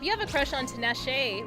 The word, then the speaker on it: Tinashe: have a crush on Tinashe right or tanash yeah to Nash I said I pronounce the e at the end of her name like when I was